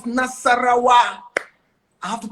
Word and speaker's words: Nasarawa: And I said, Naswa. But I said, it is not Naswa, it's Nasarawa.